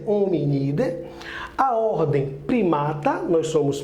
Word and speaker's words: Hominidae: família é um unida se escreve hominidae mas é unida a ordem primata nós